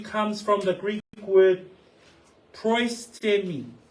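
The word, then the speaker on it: προΐστημι: So the Greek word for over you comes from the Greek word proistemi. Proistemi. That's how you say it.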